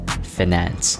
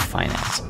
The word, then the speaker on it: finance: You have to pronounce it finance, not finance.